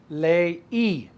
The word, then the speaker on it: leí: Leí. Accent on the I.